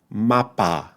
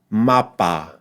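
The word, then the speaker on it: mapa: Alon class MAA MAA one thing to avoid is that many times in English in English in particular when a vowel is not stressed like the second syllable of mappa we pronounce it weaker right we pronounce what the linguist called awah which is the uh uh sound right in Spanish especially careful Spanish we want to avoid that and say MAA MAA and avoid saying MAA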